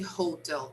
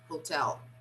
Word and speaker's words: hotel: this again hotel hotel no this dress is on the second syllable hotel yes yes okay we don't stress the first syllable like um usually brazilians like to do this but no the stress is on the second syllable so we don't say hotel we say hotel okay okay good thank